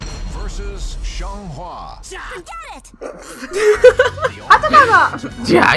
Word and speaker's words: Xianghua: Xianghua. Xianghua, I think is how that's pronounced.